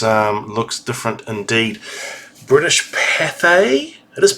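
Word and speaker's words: Pathé: uh yes this um looks different indeed British papay it is papay it's saying it pronounced today British Cafe now I I remember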